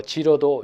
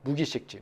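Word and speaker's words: 識: 이거는 뭐 지로도 읽을 수 있습니다. 지로 읽으면 뭐 기억하다고, 식으로 읽으면 인식하다, 뭐 이런 뜻인데요. 근데 저는 뭐 이렇게 인식 쪽으로 보는 게 조금 더 낫지 않을까 싶어서 무기식지다라고 읽었습니다.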